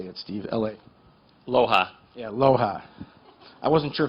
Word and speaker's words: LOHA: Loha.